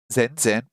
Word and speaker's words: 全然: 全く、 Mataku, mataku, and 全然、 zenzen. Hey, those words have the same first character, but it's pronounced completely differently.